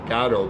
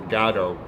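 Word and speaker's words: Godot: for good gato and i said gato because uh in interviews that's how beckett pronounces it waiting for gado so uh i remember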